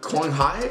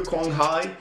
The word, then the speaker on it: Quang Hải: It is the Nguyễn Quang Hải, I think is how you say it, Quang Hải or Quang Hải, Asian Cup highlights.